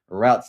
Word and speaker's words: routes: Uh RP pulse uh routes or roots, depending on how you pronounce it. routes as I say go live and this